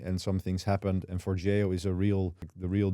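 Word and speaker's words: Forgejo: For that I use for Jio. That is apparently the right pronunciation of it.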